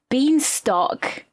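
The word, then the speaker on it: Bienstock: Beantock. I think she pronounces this bine, doesn't she? Or am I? No, she says bean beanto. Oh, she says beantock.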